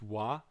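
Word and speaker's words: は: or not sorry it's ha um but in in this case it's pronounced wa so that is actually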